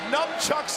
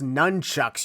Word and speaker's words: nunchucks: in your specific Direction numchucks in hand it's pronounced nunchucks you never got why some people think it's pronounced like the word numb maybe their vocabulary skills